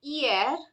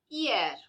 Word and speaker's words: hier: The letter is a consonant and it does not make any sound. Therefore, words that start with letter H, such as honor, hiver, hiver means winter, and hier, hier means yesterday, are pronounced without the sound H.